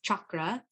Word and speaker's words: chakra: relationship to yoga totally so uh i say chakra but in india it's like chakra but i'm not indian and it just feels better for me to say chakra but so but the proper pronunciation is chakra and it means in sanskrit means wheel so